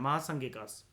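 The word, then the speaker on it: महासांघिक: महासंगिकास, एम जो होता है वो एन की तरह प्रोनाउंस करा जाता है, महासंगिकास, एट कार्ले.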